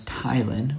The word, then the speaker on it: ptyalin: Salivary amylase, also known as ptyalin with a silent p, is capable of hydrolyzing starch into smaller sugars, which is needed to start the breakdown of carbohydrates.